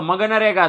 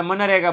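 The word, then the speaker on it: MGNREGA: અહીંયા તમે વાંચવા જાઓ તો મગનરેગા થાય છે. મગનરેગા. બરાબર. આપણે મગનરેગા થોડું બોલાય. એટલે આપણે મનરેગા બોલવાનું. શું બોલવાનું છે? મનરેગા. જી સાયલન્ટ છે એવું સમજી લેજો. तो बराबर जी ये इधर जी साइलेंट है, समझने का.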